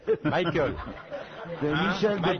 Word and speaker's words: Michael: Michael. Michael.